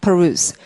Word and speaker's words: peruse: 그다음에 책을 열심히 읽는 거 숙독하다를 발음하면 peruse. 이때는 use라고 발음하지 않고요. ruse라고 했습니다. peruse 명상 이렇게 되고 자, abuse는 잘못하는 건데 그것을 깨닫게 하면 소리 내시면 disabuse 이렇게 되겠네요.